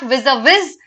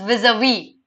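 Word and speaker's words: vis-à-vis: working vis-a-vis their improvement remember this is not vis-a-vis this is vis-a-vis okay just remember how to pronounce it correctly fitful is oh fitful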